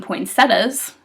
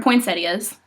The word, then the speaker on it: poinsettias: A lot of people pronounce them poinsettias. They're not. They're poinsettias.